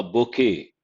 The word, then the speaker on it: bouquet: A bouquet. T is silent.